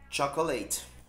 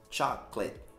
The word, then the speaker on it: chocolate: eu também gosto e não é chocolate duas sílabas só chaka chaka chaka chaka colégio